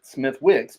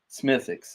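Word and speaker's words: Smithwick's: And and it made sense because one of my favorite Irish beers is Smithix. And Smithix is has an has a W in it. Smith Wix, but it's pronounced Smithix.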